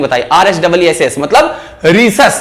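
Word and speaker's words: Rhesus: ये पूरी स्पेलिंग बताई, RHEESAS मतलब रीसस। ये किसका नाम है? एक बंदर का। गौर से सुनना, RH नाम कहां से निकाला है? रीसस से।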